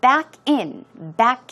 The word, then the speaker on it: back in: But to back in, the stress goes on the second syllable, or in. And it basically means to go in reverse, go backwards into the parking space.